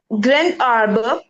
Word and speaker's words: grand arbre: Grand arbre. Grand arbre. Grand arbre. Grand arbre. Here is the T. Krant. Krant. It's a T. Grand. The pronunciation with la liaison, it becomes T.